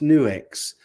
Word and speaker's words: Nux: a multi effects pedal new X isn't it that's pronounced new X I haven't tried them